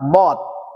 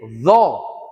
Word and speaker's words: ض: bagus ketika mengucapkan lafadz dho." Nah, jadi ini pengucapannya harus bulat. Dho. Dho. Tidak boleh dzo, dzo.